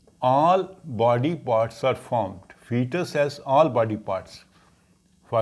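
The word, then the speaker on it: foetus: zot and fetus us even though the word is f OE but we pronounce it as fetus so first difference is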